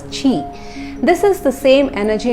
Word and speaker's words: Ki: According to practitioners, Reiki channels the universal energy known as Ki and it is pronounced as Chi.